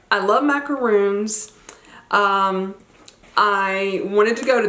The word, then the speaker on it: macaron: a little stack of macaroons right there. I asked them how to pronounce it, and they said it is macaroon. Of course, if you're from France, they say it a little bit different, but they said in